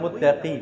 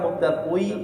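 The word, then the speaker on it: مُتَّقِي: মুত্তাকুই না মুত্তাকি কোনটা? আপনাকে পড়ে মুত্তাকুই, মুত্তাকুই আছে এরকম পড়ে না, মুত্তাকুই এটা ভুল, মুত্তাকি।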